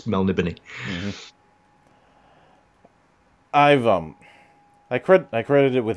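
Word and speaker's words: Melniboné: Most people say Melnibone. It's Melnibony.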